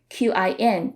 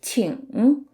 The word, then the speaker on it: 请: Chinese-speaking regions you're in, you might hear the ng part a little differently. In southern parts of mainland China, sometimes people would drop the g at the end and just say it like qin, 请. But in northern parts of mainland China, people say it in the more standard way, 请.